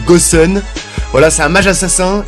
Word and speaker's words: Gusion: héros goût sione donc ça se prononce goossen voilà c'est un mage